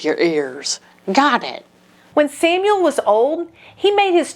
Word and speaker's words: Samuel: Oh, Samuel! I mean, Samu-el. Uh, why didn't you say it like that? Oh, because the ‘el’ on the end means God.